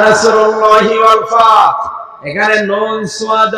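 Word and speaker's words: نصر الله: তো কেউ যদি এখানে সাদ বাদ দিয়ে সিন উচ্চারণ করে, ইযা জা নাসরুল্লাহি ওয়াল ফাত, সাদ মুখ গোল হয়ে উচ্চারণ হয়।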